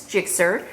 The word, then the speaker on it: GSX-R: I don't know if I've properly introduced you to my dog yet, but this is Jixer. His name is spelled GSX-R, which is after a motorcycle that my husband likes.